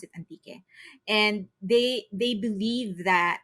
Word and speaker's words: Antique: Philippines it's called anti if you read it in English it's just antique okay but in the Philippines we call it anti we pronounce it anti and they they believe